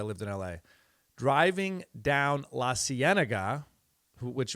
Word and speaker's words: La Cienega: It's been a while since I lived in L.A., driving down La Cienega, which when I first moved there, I called it La Cienega. I didn't know how to say it.